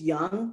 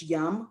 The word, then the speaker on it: Yum: pronounce that again because if you say it too fast you think it's young y-o-u-n-g but it's yum y-u-m brands and under that are kfc